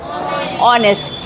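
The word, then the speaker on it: honest: जैसे ये हॉनेस्ट लिखा है, लेकिन पढ़ते क्या है? ऑनेस्ट।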